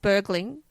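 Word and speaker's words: Bergling: was born Tim Bering for everyone else in the world they pronounce it burgling but I'm not allowed to cuz I have a Swedish boyfriend yeah born in Stockholm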